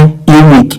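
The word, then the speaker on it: unique: यूनिक का उच्चारण होता है यूनिक, यानी ये यू वाई ओ you sound से शुरू होता है और यू एक कॉन्सोनेंट साउंड होता है, वावल नहीं, इसलिए यहाँ आन नहीं ए का प्रयोग होगा।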